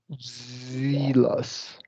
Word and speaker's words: zealous: She was zealous. Zealous is the pronunciation. Zealous, yeah. And then that's Zinc. yeah, zinc. Yeah, zinc is zealous. It's like a zealous. Yeah. Zealous is like jealous with a Z.